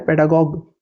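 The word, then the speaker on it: pedagogue: यहां से जो हमने अभी ऊपर पेडागोजी देखा उससे रिलेटेड वर्ड है पेडागोग पी ई डी ए जी ओ जी यू ई इसका प्रोनाउंसिएशन पेडागॉग ठीक है इसका साउंड आएगा गॉग का पेडागॉग तो पेडागॉग का मतलब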